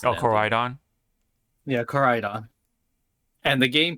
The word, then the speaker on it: Koraidon: I get off of still don't know how to pronounce it. Oh, Koraidon?